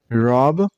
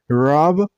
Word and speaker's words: robin: So this name has two syllables. Robin. The last syllable is not pronounced as in. It's N. A little bit is sound. It's not in. Okay? So Robin.